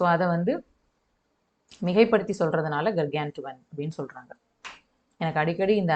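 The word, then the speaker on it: gargantuan: இப்போ ஃபஸ்ட்டு கர்கான்டுவன் அப்படின்னு சொல்லணும். இதை ப்ரொனவுன்ஸ் பண்ணுறாங்க.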